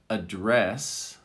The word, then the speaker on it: address: there's a slight difference because of the accent or emphasis on the word with address you have it on the second syllable dress and with advice i'm